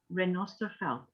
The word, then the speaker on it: Renosterveld: felt it felt used in crafting so it's renosterfelt renault and i think it's important that people